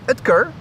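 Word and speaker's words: Oetker: er and allegedly it's supposed to be pronounced Dr. Edkar.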